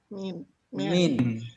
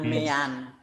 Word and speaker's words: mean: Bahasa Inggrisnya bacanya gimana? Min. Jangan mean. Seringkali mahasiswa masih ngomong mean itu apa? Min. Semua kan sudah lulus bahasa Inggris toh, kok masih ngomongnya mean.